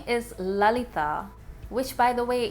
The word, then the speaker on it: Lalita: So she's about 13, and her name is Lalita, which, by the way, in Bengali is pronounced as Lolita.